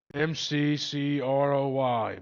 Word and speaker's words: McCroy: You're going to have to spell that out for me. MC C R O Y McCroy.